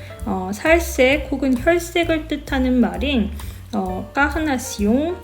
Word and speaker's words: carnation: 흔히들 이 말이 카네이션이라는 꽃의 색으로부터 만들어진 단어라고 생각해서 빨강색으로 더 많이 알려진 카네이션을 왜 핑크색과 결합시키는지 의아해 하시는 경우가 많은데요. 살색 혹은 혈색을 뜻하는 말인 까흐나시옹, 영어로 발음하면 카네이션이라는 단어를 예전에는 핑크를 대신해서 분홍색을